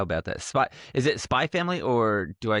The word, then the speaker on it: Spy x Family: Is it spy family or do I say spy X family? Uh, I think it's it's the English thing where the X is silent.